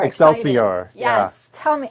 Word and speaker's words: Excelsior: Am I pronouncing it? That was actually pretty good. I did? Yes. Okay, she said it correctly. Excelsior. Excelsior.